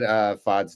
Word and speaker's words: Pfaadt: I'm glad you said Pfaadt's name because I definitely would have pronounced the P.